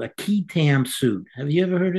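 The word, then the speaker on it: qui tam: a thing called a keam suit have you ever heard of this I have not no a keam is spelled Qi t it's actually based on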